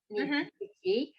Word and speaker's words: Niedzwiecki: Niedzwiecki. That's how you pronounce it.